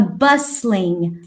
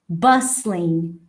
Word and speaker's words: bustling: to places with a bustling akio the t is silent bustling bustling bustling means bustling